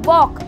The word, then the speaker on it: walk: ठीक है, ऐसे ही दूसरा देखो वॉक, यहाँ पर WALK, यानी कि K से पहले L आया है, था ना डॉग कैसे फिसलू मम्मी में K भी था, यानी कि 4 लेटर D, K, F और M, अगर इनसे पहले L आ रहा है तो वो साइलेंट हो जाएगा, जैसे कि आपका वॉक में भी हुआ।